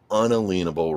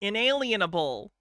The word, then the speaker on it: inalienable: within your own god-given unalenable rights, permissions. Inalienable. It drives me nuts how sovereign citizens mispronounce this every time. inelenable has just become the like accepted sovereign citizen pronunciation of un inalienable.